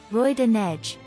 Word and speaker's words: Roi de Neige: Neige's nickname is pronounced in French, as, Roi de Neige, and is the same on both servers.